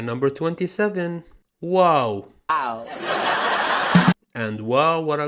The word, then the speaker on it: واو: like the letter O, and sometimes ow, like in plow, for example, OW, which is the two letters actually founded in the word wow, the name of this letter.